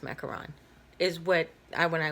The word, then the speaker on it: macaron: pronunciations pronunciation is McCarron there is no long Oh or double oh and the long what